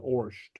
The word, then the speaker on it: ort: Ort or Orsht? Okay, you'll hear different pronunciations. I pronounce it Orsht.